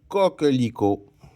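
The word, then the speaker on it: coquelicot: Le t il est muet, je ne le prononce pas mais il doit être écrit. Le cocico sommes rendus au numéro 6.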